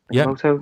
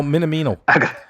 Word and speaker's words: Minamino: Is that how you say his name? Minamoto? Yeah, Minamoto. I'm gonna go with that. No, Minamino. Minamino. I keep saying Minimoto. I keep doing it. I've got it wrong every time.